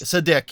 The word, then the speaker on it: Sadeqi: Sadeqi.